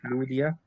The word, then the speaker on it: Lydia: هو نطق الإبسلون زي ما هو متعود ما ينطقه في الألماني، اللي هو بينطقه زي الأو بالظبط، أو يعني شبيه كده بالأو أملاوت يعني.